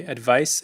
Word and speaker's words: advice: Number three, advice, advise. Pay attention to the pronunciation difference here.